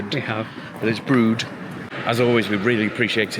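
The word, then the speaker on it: Brewood: And um for a good couple of years, we have been pronounced it Brewwood or Brewwood. We have Brood.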